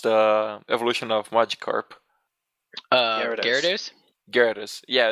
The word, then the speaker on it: Gyarados: Oh shit, how is it pronounced, the evolution of Magikarp? Gyarados?